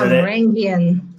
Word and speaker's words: Varangian: I think it's pronounced Varangian. It's Varangian.